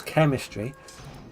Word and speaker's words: chemistry: Chemistry, because they're Greek, they're pronounced K. French words that were taken recently are pronounced sh.